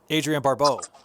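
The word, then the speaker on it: Adrienne Barbeau: the scene we have the uh scream queen adrian barbeau is that how you say her name yep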